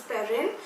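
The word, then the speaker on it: Perenne: It spells P-E-R-E-N-N-E, so it's Perrine.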